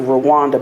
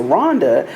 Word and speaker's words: Rwanda: of them was Rhonda we pronounced it Rwanda but they pronounced it Rhonda and you know the